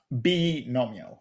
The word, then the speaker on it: binomial: I pronounce it binomial. Oh, binomial. Okay. Yeah, Um, letter B and then nomial.